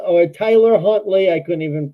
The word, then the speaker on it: Tyler Huntley: Oh, it's Trevor Hunt or Tyler Huntley. I couldn't even pronounce his name.